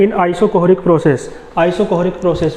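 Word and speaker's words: isochoric: और आइसोकोहरिक प्रोसेस मैं आपको बता दूं स्पेलिंग, आइसोकोहरिक, हाँ CHORIC, आइसोकोहरिक प्रोसेस।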